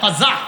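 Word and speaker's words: قزع: বলেন আমার সাথে সবাই কজা বলেন আবার বলেন কজা কজা কফ যা আইন বানানটা কজা বলেন কজা কজা করা নিষেধ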